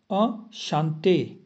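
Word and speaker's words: enchanté: में बोला जाता है अ शांते अ शांते ई एन को आ प्रोनाउंस किया जाता है अशांते ठीक है यह मैंने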